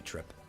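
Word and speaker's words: Trepe: And her last name is probably Trip. It's a form of tulip. In Japanese, it's spelled like turepu. So her name is just supposed to be Trip.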